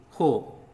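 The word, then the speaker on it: हो: H plus o equal to ho. Ho. And ho is pronounced like ho in hope.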